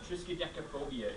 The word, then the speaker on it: triskaidekaphobia: Triskaidekaphobia is how you say that word.